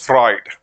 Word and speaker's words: Freud: Then, according to Sigmund Freud, we need to pronounce just Freud.